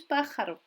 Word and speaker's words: pájaro: Là encore, je peux écouter la prononciation et m'entraîner pour bien faire l'accent de pájaro. L'accent tonique se situe sur le A accentué et pas ailleurs.